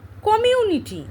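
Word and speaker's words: community: কমিউনিটি, উচ্চারণ দেখো, কমিউনিটি, কমিউনিটি আমরা এইভাবে উচ্চারণ করি।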